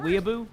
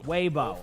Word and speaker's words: Weibo: point control here, and am I saying it right, by the way? Is it Weeaboo? Weeaboo? But either way, they're basically just kind of setting up around them and taking map control, and then eventually winning the team fight. So, in that situation, it's Weibo? Weibo. Okay, Weibo. Excuse my, just not know how to pronounce it.